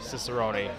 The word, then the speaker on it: Ciseroni: That is definitely Ciserone like pepperoni.